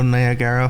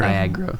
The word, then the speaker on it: Niagara: Niagara Niagara Niagra Falls why do you all swallow the second a I actually don't no that could also just be me um but I've never heard that second a actually pronounced anywhere yeah um so I really couldn't tell you where that a actually goes to be fair like